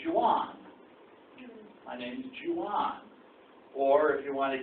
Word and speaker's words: Juan: My name's Juan.